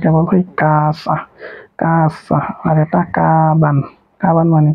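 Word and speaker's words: かばん: কাছা কাছা আর এটা কাবান কাবান মানে কি ব্যাগ এই যে কাবান হার হার উপর যদি ডাবল দেন থাকে তাহলে এটা বা উচ্চারণ হবে তাহলে কাবানো কাবান কাবান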